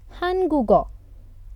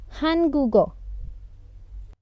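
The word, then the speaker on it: 한국어: being pronounced as ghaw because it is a part of syllable three and its stress is reduced we will pronounce it as go so this is syllable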